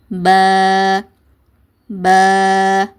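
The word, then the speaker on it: بَا: அதனால் உச்சரிக்கும் போது ப ப இந்த மாதிரி உச்சரிங்க. எந்த மாதிரி உச்சரிக்கக்கூடாதுன்னா பா இந்த மாதிரி ஒரு ஹரக்கத்தோட ஸ்டாப் பண்ணக்கூடாது. அதே மாதிரி பே இந்த மாதிரி சாட்சி ஓதக்கூடாது. பா இந்த மாதிரி ஹெவியாகவும் உச்சரிக்கக்கூடாது.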